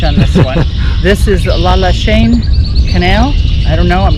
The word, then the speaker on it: Lachine: I've learned the actual pronunciation is Lachine.